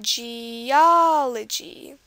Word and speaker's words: geology: geology is another one geology on the a geology so that's one